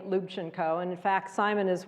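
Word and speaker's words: Lubchenco: The Story begins uh my last name is Ukrainian lubino many people have trouble saying luino and in fact Simon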